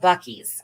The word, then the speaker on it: Buc-ee's: It's pronounced Buc-ee's.